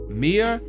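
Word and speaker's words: Maia: Oh gosh, I think it's Mia, but it's like M.A.I.A.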